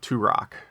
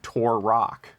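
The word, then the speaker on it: Turok: way to pronounce uh turac tur in turac the dinosaur hunter turac yeah like Tupac turac well he yeah his argument should be pronounced like Tupac and I pronounce it like Tor Rock I'm going to stick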